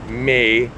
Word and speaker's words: Meyer: And to me, Meyer is my last name, but pronounced phonetically is Mayer, like mayor, like mayor.